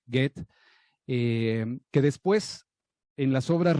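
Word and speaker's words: Goethe: era un aficionado agoten dicen que así se pronuncia get que después en las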